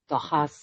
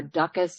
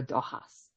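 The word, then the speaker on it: Dóchas: The Canadianized uh way in Alberta seems to be doas. So we just let that go. Let the go. Well, in Gaelic it's uh duckas or dohas.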